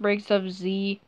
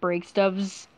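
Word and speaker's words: Breaksofz: of z um also it's pronounced breaks of z not break stubs like people usually uh pronounce my name so the name breaks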